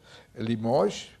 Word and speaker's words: Limoges: do centro da França, Limoges, escreve-se Limoges, com essa, mas não se pronuncia essa.